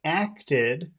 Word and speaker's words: acted: So we have acted, and which syllable has all of the focus? Did. No, no, that would be acted. Acted. Is it Act. acted or Act. acted? Acted, yeah. Yeah. Acted. So Acted, yeah. so it's the first syllable.